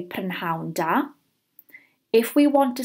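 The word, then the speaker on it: prynhawn da: we want to say good afternoon we say pan houndour if we want to say good evening we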